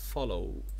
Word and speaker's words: follow: diphthong او زي كلمة follow follow او follow زي ما انت شايف هنا طالما فيها في ال diphthong في الاخر او هتبقى الايه ال stress على ال first syllable، يبقى هنزود كلمة follow و borrow.